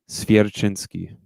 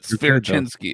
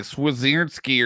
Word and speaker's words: Swierczynski: I can't roll it, but Swierczynski. Okay. Yeah, I always thought it was like Swierczynski, or I never knew how to pronounce it. It's definitely Polish, and that's the pronunciation of it.